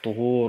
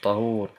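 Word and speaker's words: طهور: Tuhur übrigens, das wird mit dem Dhamma ausgesprochen, Tuhur und nicht Tahur.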